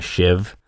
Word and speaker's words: sheave: in a pulley and a shiv spelled like sheave there's a lot of